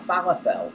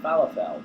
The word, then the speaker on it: falafel: I don't even know what they are, and I used to think they were called falafel, but that's because, you know, I'm English and I pronounce things using the rules of English. Not American English, English, you know, the English of the English. And in English it would be pronounced falafel, but apparently it's falafel.